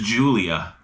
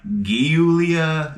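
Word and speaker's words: Giulia: U L I A the pronunciation is Julia. So um yeah 2016 Alpha Romeo Julia. I was like guulia Gulia.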